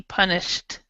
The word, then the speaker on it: punished: yeah yeah the sh so it sounds more like a t punished punished punished yeah where